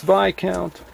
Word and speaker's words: Viscount: It's a Viscount, pronounced V count.